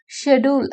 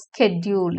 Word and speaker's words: schedule: இது ரெண்டு விதமாக ப்ரொனவுன்ஸ் பண்ணலாம். ஷெடியூல் அப்படின்னு சொல்லிட்டு பிரிட்டிஷ் இங்கிலீஷில் சொல்லுவாங்க, அமெரிக்கன் இங்கிலீஷில் ஸ்கெட்யூல் அப்படின்னு சொல்லுவாங்க. ஸோ ரெண்டுமே கரெக்டு தான்.